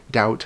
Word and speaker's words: doubt: it for some reason, and doubt has a B in it for some reason.